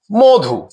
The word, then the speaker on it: মধু: মধু এই শব্দটিতে মূলত ম এ ম ধ্বনিটিতে অধনি রয়েছে। যেটির উচ্চারণ হয়ে গেছে ও এর মত। মধু মধু এখানকার অধনিটি ও এর মত উচ্চারিত হয়েছে।